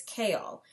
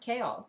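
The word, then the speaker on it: Chaol: was correct it is a little weird it's kale and it looks like it says chal but it's pronounced kale so let's go with that his name is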